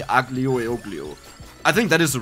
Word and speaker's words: aglio e olio: I frequently go to an Italian restaurant, and they said it's called Spaghetti Aglio e Olio, which is completely wrong. It's called Aglio e Olio, and I don't even know why they said that.